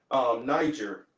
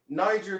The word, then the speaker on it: Niger: If you go into the actual the where this word derives from, Niger, there is no soft G in Latin. It's a gur sound.